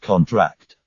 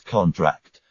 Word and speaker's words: contract: Stress on the last syllable is a verb. Examples: contract and contract. The former is a noun. Sign this contract. Whereas the latter is a verb. The muscles contract.